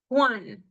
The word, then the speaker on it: Juan: Then J always sounds like the English H, Juan, okay?